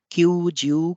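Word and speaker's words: 九十: क्यूजियो हाची, क्यूजियो क्यू, आप देखिए कि दोनों में एक अतिरिक्त ऊ है, यानी कि इसमें दीर्घ ध्वनि आएगी दोनों में, क्यू में भी और ज्यू में भी। इसलिए हमने जो उच्चारण अभी किया उस तरह से आपको उच्चारित करना है इसे, क्यू ज्यू इची, क्यू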